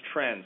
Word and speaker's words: TRND: Diseases Program, or TRND, which we've been pronouncing as TREND, so you'll probably hear that throughout this discussion.